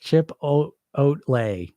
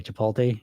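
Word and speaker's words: chipotle: right um B creatur say pronounced chip o Ole what I say chipot I know I say it wrong D says I feel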